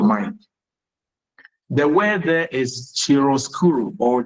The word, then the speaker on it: chiaroscuro: The word there is chiaroscuro or chiaroscuro, played in the rendering process. So what is chiaroscuro?